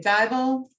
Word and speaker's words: Dival: I have to mention, of course, our friends at Joey's Paw, Charlie and Tanya Dival. Rhymes with Bible.